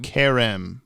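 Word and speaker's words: Kerem: K-E-R is pronounced like Carol. Care. Yeah. M is pronounced like Emily. M. Karem. Karem. Karem. Karem. Karem. Maybe the M is emphasized.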